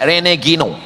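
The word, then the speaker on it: René Guénon: Cara bacanya Renegino.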